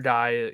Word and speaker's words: Di: say his name because I was like di could also be D like D or something right like but um I like that uh I was able to remember how to pronounce it because of the next word being that he dies um but yeah so